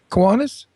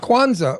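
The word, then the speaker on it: Kwanzaa: First of all, this is a very wonderful time of year because it's Hanukkah, it's Christmas, and it's Kuanas. Quanza. Kwanza.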